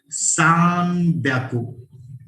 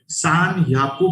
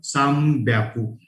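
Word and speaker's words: 三百: और 300 प्रोनाउंसिएशन थोड़ा सा अलग है, दैट इज सान ब्याकू. सान ब्याकू. यहाँ पे सान याकू प्रोनाउंसिएशन कभी भी नहीं होता, कभी भी नहीं. सो इट जस्ट साम ब्याकू. वो एब्रिवेट हुआ है अपभ्रंश म्हणतात ज्याला, दैट इज लाइक साम ब्याकू.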